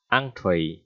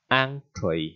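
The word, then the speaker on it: entrée: À, bạn đọc là en hay là in cũng không phải ha, bạn đọc là ăn, entree, entree, ok chưa?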